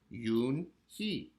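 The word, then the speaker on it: Unhei: and H II I it's pronounced yoon-hee oh it's you hey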